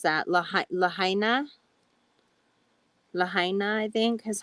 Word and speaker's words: Lahaina: How do you pronounce that? Lahaina? Lahaina, I think, is how you pronounce it, in Maui.